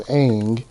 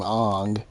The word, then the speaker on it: Aang: I think cartoon it was Aang, but in the movie they pronounce his name Ong.